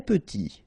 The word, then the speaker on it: petit: Très petit. Final T not pronounced. And then E is pronounced like a E. Petit.